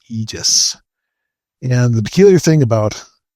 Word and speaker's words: Aegis: it's the Greek, but in English it's spelled Aegis, but I think it's pronounced Aegis.